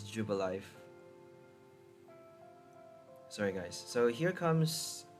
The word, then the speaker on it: Jubilife: I've been calling it Jubilife. It's Jubilife.